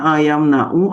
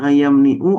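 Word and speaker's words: يمنع: Mana a mana ayam nau apa ayam niu? Apa mana ayam nuu? Karena kenapa dibaca yang manna ayamnau? Karena ada ain fi'ilnya huruf halqi nih.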